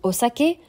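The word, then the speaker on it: お酒: En japonais, bien que ce même terme saké ou osake, prononciation de kunyomi, le o marquant le respect, désigne cette boisson.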